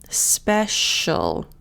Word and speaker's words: special: So now we've got the C. That sounds like a sh. Special.